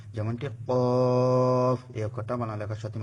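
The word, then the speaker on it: ق: Calf calf একটু ইয়ে করে বলতে হবে। গালটাকে একটু খুলে খুব চিকন স্বরে উচ্চারণ করতে হবে।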